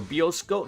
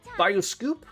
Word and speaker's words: bioscoop: Go about once a week to the bioscoop or bioscope. No, bioscoop.